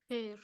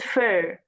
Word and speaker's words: fur: Fair. It is fur. Fur. fur. The same sound in the word girl. Girl, fur, fur, girl.